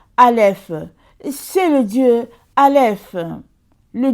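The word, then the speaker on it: אלף: Parce que dans la première lettre de l'alphabet hébraïque, Dieu s'annonce, se prononce Aleph.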